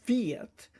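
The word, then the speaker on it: בית: So therefore, it's pronounced slightly different. It's pronounced Viet. So it's almost like a longer sound than Beat.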